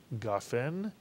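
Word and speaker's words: גפן: And the vertical line under the gimel next to the kamatz tells us to accent the ga in the word gafen, and therefore the two-word phrase is Pri Hagafen, Mitsuyan.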